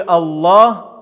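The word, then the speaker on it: الله: В слове Аллах буква лям читается твердо.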